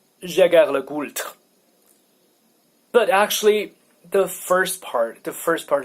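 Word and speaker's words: Jaeger-LeCoultre: But anyway, so Jaeger le Goult, that's if you want to pronounce it properly.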